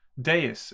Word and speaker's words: dais: a circular days dice how do you pronounce that again d-a-i-s day is isn't it it's a day is i think let's look that